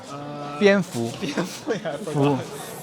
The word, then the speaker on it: 蝙蝠: And many of those palaces are bat-themed palaces, because the bat had the same pronunciation as the happiness or fortune in Chinese. How do you pronounce this in Chinese? 蝙蝠.